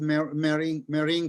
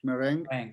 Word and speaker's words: meringue: no actually it's um i think one of my favorite cake is marine cake meringue how do you say in english meringue yes meringue cake which